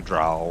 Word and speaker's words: drow: You know, we're playing a drow or a dro, whatever your preferred pronunciation is.